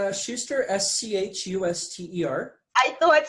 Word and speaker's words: Schuster: that's your last name for me ow its Shuster SCH UST er I thought so I wanted